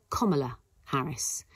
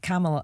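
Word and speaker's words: Kamala Harris: week too it is KLA Harris according to her own Memoir in 2019 uh KLA Harry says it's like the punctuation mark comma comma KLA Harris okay so that is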